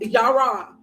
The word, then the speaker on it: Jera: We're going to look at Jera first because we're here, or it's pronounced Yara. Yara, harvest, celebration, endings, beginnings, reaping rewards, and life cycle.